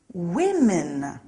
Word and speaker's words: women: becomes women look out for that one the pronunciation is a little strange woman women some nouns stay the same when they are